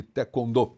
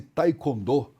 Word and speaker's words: taekwondo: essa prática esportiva, falava-se taekwondo, mas não é taekwondo, é taekwondo. Taekwondo. É porque nós precisamos falar exatamente não como se escreve, mas sim como os coreanos pronunciam.